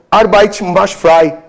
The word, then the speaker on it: Arbeit macht frei: E existiu uma frase na entrada de Auschwitz, que era, espero falar aqui a pronúncia certa, em alemão, Arbeit macht frei, que é o trabalho liberta.